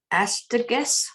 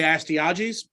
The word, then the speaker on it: Astyages: So I would say Astyages, but don't take that with anything other than how I would say it.